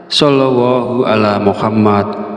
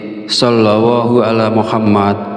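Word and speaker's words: صلى الله على محمد: Perlu diingat terkadang ada kesalahan dalam pelafalan seperti shallallallahu ala Muhammad sallallahu alaihi wasallam. Oleh karena itu, penting untuk melafazkan dengan benar.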